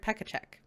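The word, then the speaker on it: Pechaček: It is actually pronounced, this book is The West Passage by Jared Pekacek.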